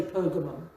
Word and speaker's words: Pergamum: In fact, Pergamum, the G should be a soft G. We say Pergamum.